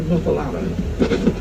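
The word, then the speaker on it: muffuletta: What about the muffalata? You guys had the muffalata yet? It's spelled like muffaletta.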